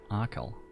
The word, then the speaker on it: Achill: Pronunciation, Achill.